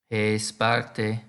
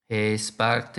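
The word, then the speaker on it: ἡ Σπάρτη: means the city the sparta in Greek is pronounced hey Sparta hey Sparta let's try to say now Sparta is a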